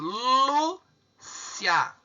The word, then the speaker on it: Lúcia: Qual que é o mais forte? É o Lu.